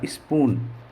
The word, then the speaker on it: spoon: जैसे मैंने लिखा स्पून, SPOON, स्पून, स्पून यानी होती है चम्मच, स्पून यानी चम्मच। तो यहाँ पर जो डबल ओ है इसका उच्चारण हुआ बड़ा ऊ।